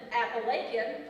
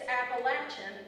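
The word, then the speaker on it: Apalachin: Some pronounce it Appalachian like Mrs. Alrech. Others pronounce it Appalachian like Tristan Haywood. I'm looking at you. It isn't either of those. It's Appalachin.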